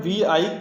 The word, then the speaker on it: Vi: अगला क्वेश्चन है, किस टेलीकॉम कंपनी ने हाल ही में अपना नाम बदलकर VI कर लिया है? तो VI, इसको V प्रोनाउंस करते हैं।